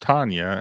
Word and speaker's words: Tanya: So My wife is Tanya, pronounced Tanya, and no one gets it.